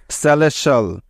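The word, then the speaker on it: celestial: sound দিয়ে থাকে কেমন তাহলে এই শব্দটির সঠিক উচ্চারণ হবে সি ই সে এল ই এস লেস এবং টি আই এল সেল স্যালেশাল স্যালেশাল সেলেশাল অর্থ হলো স্বর্গীয় বা অমর মনে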